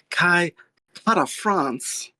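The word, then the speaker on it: Kai Kara-France: Kai Para France. That's how he says it.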